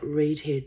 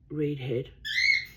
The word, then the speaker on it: Reedhead: It's spelt Reedhead, not redhead. So I guess they mean Reedhead.